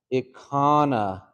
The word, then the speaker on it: ikhvna: Yeah, that one's ikana, ikana. Okay, so if you just break it down, this one too, ik ha na, but this is almost like a nasal.